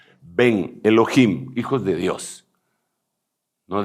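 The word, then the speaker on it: בן: a quién le llaman ven es una palabra en hebreo que quiere decir hijos en masculino ve grande e n así se pronuncia porque ellos no tienen b grande como la nuestra ven Elohim hijos de Dios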